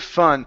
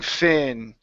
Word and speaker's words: fun: go to the word fun so here you're saying Finn fin open up your mouth F fun fun one more time F